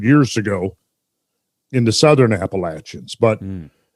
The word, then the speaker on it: Appalachian: ago in the southern appalachians but people who live in the appalachians pronounce it appalachian and all the outsiders pronounce it appellation got to keep that